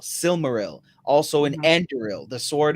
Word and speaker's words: Silmaril: and and like uh this is for r-i-l Real it's like Brilliance in Israel silmaril also an enderil the